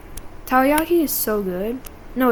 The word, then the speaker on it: takoyaki: I could really go for some takoyaki. Takoyaki is so good.